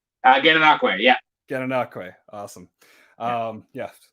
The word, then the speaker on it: Gananoque: I believe you're from Gananoque originally, right? Gananoque, yeah. Gananoque, awesome. Yeah, right place. I just pronounced it completely wrong.